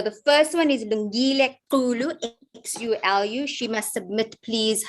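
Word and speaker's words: Xulu: Please pronounce that for me correctly. Lungile Kulu.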